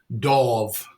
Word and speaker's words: Dov: Thanks for joining us today, Dov. Thank you, Peter. It's a pleasure to be here, and I'm going to help everybody out. My name is pronounced D-A-W-V, Dov. So okay, there's no E, and I have no E and no wings.